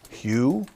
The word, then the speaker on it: HU: heart um it's written h u is pronounced Hugh uh so think of